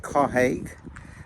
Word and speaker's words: Carhaix: at the checkpoint in Carhaix. Let's listen to the commentary. So we are at Carhaix, or I think as it's supposed to be pronounced Carhaix, which is the checkpoint